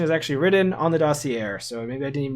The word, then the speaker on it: dossier: If you have a French word with an R at the end, usually the R is silent. Dossier?